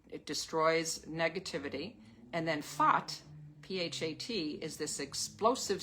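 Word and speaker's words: Phat: enlightened mind, and it destroys negativity, and then Fat, P-H-A-T, is this explosive syllable that cuts through all obstacles.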